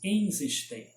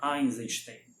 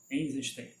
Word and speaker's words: Eisenstein: Eisenstein, não é Eisenstein. Eisenstein. É assim que é escrito no alfabeto cirílico, é assim que é pronunciado em russo.